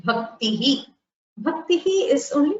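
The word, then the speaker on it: भक्तिः: Bhaktihi is only pronounced. It is pronounced with the Visarga being heard.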